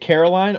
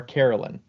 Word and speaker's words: Caroline: Is it Caroline or Carolyn? It is Caroline. Caroline. I said it right. You did, because it's spelled line, like a line.